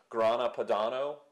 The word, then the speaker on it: Grana Padano: also from the parmesan grana Padano all right how do you say it Grand Pano Grand Padano sounds like grand piano but uh very s